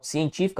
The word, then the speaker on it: científico: Bom, científico, a sílaba tônica é a antepenúltima sílaba, portanto, uma proparoxítona.